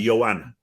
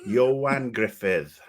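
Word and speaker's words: Ioan Gruffudd: Griffith Mr Fantastic himself that's how you say his name I had no idea I was like Joanna yeah I look at it I'm like no I'm not gonna cry Johan Griffith is that like a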